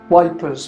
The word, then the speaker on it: Ypres: called the wipers times wipers being the British pronunciation of Ypres the papers editor was